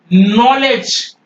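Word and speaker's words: knowledge: simple सी बात है जब कभी भी के अपीयर बिफोर एन कभी भी एन के पहले के आ जाएगा आप वहा पर के को साट रख एपल देखिए यह है नकल ये नकल नकल न में न के पहले के है आप के नहीं बोलेंगे और ये है नॉलेज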